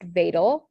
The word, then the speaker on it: Wedel: word would be pronounced Wedel, and then this word would be pronounced Edelweiss. So it's a V sound, but it's spelled with a W.